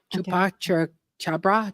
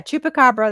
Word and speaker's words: chupacabra: storms that's absolutely fantastic Chupa chabra CH chupa chabra sorry I can't pronounce that CH congratulations storm say yeah chupacabra that's what I was thinking of yes he said it